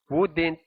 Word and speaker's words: wouldn't: W-O-U muna, ang ibibigkas nyo, woo, silent L. Tapos isusunod natin yung D and T. Ibibigkas natin bilang didn't. Didn't. Kaya, who didn't have been. Wouldn't have been.